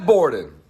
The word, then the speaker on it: Borden: Borden. Rhymes with Gordon.